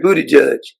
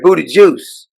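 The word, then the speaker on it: Buttigieg: budajudge and President Biden you pronounce his name right is not secretary budy judge it's secretary budy juice according to Joe bid you make sure you say his name correctly Dei initiatives which hire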